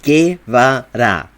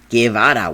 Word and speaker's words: Guevara: You can pronounce the name right, motherfucker. It's not that hard. Guevara. Guevara, weón.